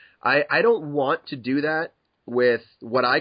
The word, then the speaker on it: daith: if I said well it's actually pronounced doth because da da da da I think people are going to be more annoyed at that so I just let them say Dave and you know that's